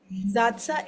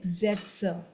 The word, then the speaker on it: Sätze: Zatsa and Zetsa. Okay. Satz. Zatsa is where there is no Sen. umlaut. When there is a umlaut, then it will be Zetsa.